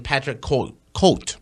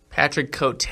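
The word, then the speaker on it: Côté: I'm surprised he's not fighting in between fights, and that is the Cowboy, and he's fighting Patrick Cote. Oh wow, said that name wrong. Patrick Cote.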